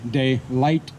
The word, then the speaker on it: DeLight: John DeLight. Is that pronounced? Yeah. It's D-E and then capital L-I-G-H-T. John DeLight.